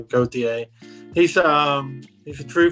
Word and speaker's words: Gauthier: is a kid named colton gauthier goatee i think that's how you say his name it's g-a-u-t-h-i-e-r go-ta he's um he's a